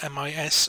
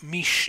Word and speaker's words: mis: and Southern Welsh is the tendency of Southern dialects to lisp the letter S. For example, M-I-S, a month, would tend to be pronounced mis in the North and mish in the South.